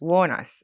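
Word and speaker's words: Wuornos: Warnos.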